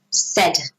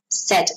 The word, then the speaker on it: said: from the infinitive say notice the pronunciation pronunciation of say in the past is that not said no said said like s e d okay and left left